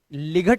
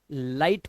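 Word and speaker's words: light: बोला गया है कि जी एचटी में आया हुआ जो जीएच होता है ना ये हमेशा साइलेंट रहता है ध्यान रखना तो इसे लिग नहीं लाइट पढ़ेंगे इसी तरह से यहां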